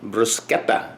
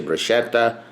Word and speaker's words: bruschetta: their Trader Joe's Bruce get that that smells pronounced Bruce kappa people say bruschetta or a kappa it's basically a tomato and